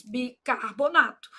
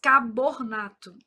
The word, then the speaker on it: bicarbonato: Bi car. Aí o povo fala carbornato. Não é aqui não, né?